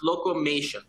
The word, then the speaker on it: Locomation: note our name is a clever blend of two words locomotion and automation and if you recall